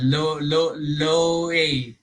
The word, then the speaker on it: Loay: Yes, Loay loay loay.